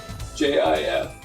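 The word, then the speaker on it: GIF: have paused for this is they have to give them an award right and at the awards show it actually says up on the screen it's pronounced j-i-f not gi and i and i looked at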